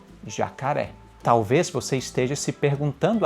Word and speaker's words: jacaré: Ele te indica que aquela sílaba é a sílaba forte. Portanto, se você se deparar com a seguinte palavra, você sabe que a única pronúncia possível é jacaré. Jacaré.